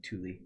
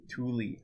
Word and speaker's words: Tooele: Most people call it like Thule. Thule. Thule.